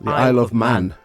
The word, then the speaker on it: Isle of Man: So for the future, so I will definitely try to come to how do you pronounce the island? It's the Isle of Man. Isle of Man. Yeah. Yes. Just straightforward.